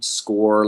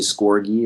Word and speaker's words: Scorgie: You can, I'm on Twitter at Score like a goal with a big G, because that's how my name's pronounced. Thank you for getting it right, actually, Duncan, in the beginning there. Most people say Scorgie or something.